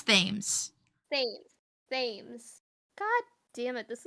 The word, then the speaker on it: Thames: I was gonna say, how do you pronounce? Is it Thames? Thams? Thames. It's Thames.